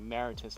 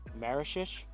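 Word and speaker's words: Mauritius: This is in Point Maurice, True DR Deuce, and I believe I was pronouncing it Maritus last time, but I believe I looked up the pronunciation before I came out here, and it's pronounced Marishish, something like that.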